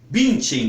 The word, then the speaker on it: Bündchen: é só uma observação é claro que nosso sempre vamos respeitar os nomes estrangeiros como eles são pronunciados é o caso por exemplo de Gisele Bündchen Todos nós sabemos que a grande modelo brasileira que atualmente mora nos Estados Unidos tem o nome de Gisele bint em sem aqui queria fazer